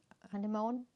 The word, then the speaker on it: Anemone: We do have some coral, but we also have anemones. How do you pronounce it in English? In German it's anemone, which I love because it's something a little bit different.